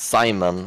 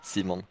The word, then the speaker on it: Simon: you're from I guess my name for example is Simon in English but then in scavia seimon oh is it seimon